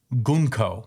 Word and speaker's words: Gunko: Loki is getting beat up by Gunko, is how I learned how to pronounce her name.